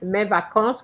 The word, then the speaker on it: mes vacances: You cannot have a holiday singular in mes you don't pronounce the S. Mes vacances with an S at the end.